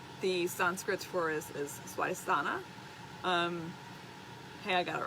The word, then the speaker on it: Swadhisthana: The Sanskrit for it is Swadhisthana. Hey, I got it right this time without worrying about it. Sanskrit is very literal, so when you read it, you have to pronounce every consonant.